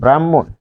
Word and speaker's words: ব্রহ্ম: তাহলে এখানে আমরা কিভাবে পাচ্ছি, যেমন ব্রাহ্মণ, তাহলে হবে ব্রাহ্মণ, ব্রাহ্মণ। তাহলে এটি হচ্ছে MHO, এর উচ্চারণটা হবে ব্রাহ্মণ।